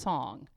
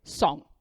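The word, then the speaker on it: Cong: it's it's chinese c-o-n-g so it looks like kong but it's pronounced song as he would say song song song but he's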